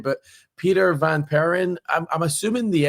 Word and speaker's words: Vaniperen: So, Peter, I'm going to try and not butcher your last name, but Peter Vanperin, I'm I'm assuming the L is is silent, but you're the CISO alpha sense, right?